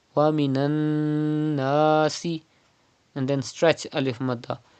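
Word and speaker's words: وَمِنَ النَّاسِ: You can see tashdid on noon. It is noon mushaddad. You have to pronounce noon mushaddad with gunna. That means you have to keep the sound in your nose up to 2 harakat.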